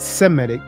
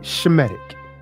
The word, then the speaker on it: Semitic: Not Semitic, but Shemitic. And proof that the modern Hebrew has been Hellenized is why they pronounce sounds like Semitic. They use the sound like Semitic because there's no SH sound in the Greek.